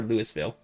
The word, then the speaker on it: Louisville: Yeah, Do you pronounce the S in Louisville? You pronounce the S in Louisville? Louisville, Kentucky? Is it Louisville or Louisville? I say Louisville.